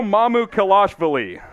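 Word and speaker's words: Mamukelashvili: kel ash villi pretty close mamu kelavasha sandro mamu kalashvili mamu kalashvili i mean you gotta feel bad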